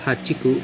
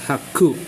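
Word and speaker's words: 八苦: So this is not hachiku, but it is read as haku. The chi becomes a consonant doubler for the ku, for the k in the ku.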